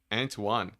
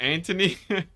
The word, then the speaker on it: Antoine: It's Antoine. Really? Man, I'm terrible with names. Oh my gosh. Are you sure it's not Anthony? I guess because Anthony, I'm just thinking Anthony, which is spelled like it sounds, right?